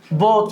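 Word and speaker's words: bought: التصريف الثالث عندي باي ها بوت بوت الجي اتش لما بتنطقش كات كت زي ايه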